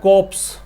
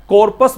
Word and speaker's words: corps: अच्छा जी, यहाँ पे देखो को जो वर्ड है CORPS, इसको पढ़ते हैं को, ये सैन्य टुकड़ी को बोलते हैं। एक वर्ड होता है कॉप्स, इसको कॉप्स भी पढ़ सकते हैं, और अमेरिकन इंग्लिश में इसको कॉर्पस भी पढ़ सकते हैं, COR है ना, कॉर्पस भी पढ़ सकते हैं, रे का साउंड आ सकता है, अमेरिकन इंग्लिश में इसको बोलते हैं ऐसा।